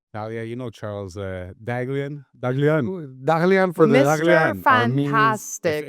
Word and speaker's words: Dahglian: Daglian. Dagan forastic. If you're Armenian or you know any Armenians, you know that's how you pronounce the last name.